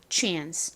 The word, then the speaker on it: chance: 사실 미국식 발음으로는 이 단어에서 A가 에 소리가 나서 chance라고 발음을 하지만 영국식 영어에서는 A가 아 소리가 나요. 그래서 한국식 발음과 비슷하게 chance, chance 이렇게 발음을 합니다. 그래서 나는 미국식 발음보다 영국식 발음이 좋다, chance가 좋다 하시는 분들은 chance라고 발음해 주시면 됩니다.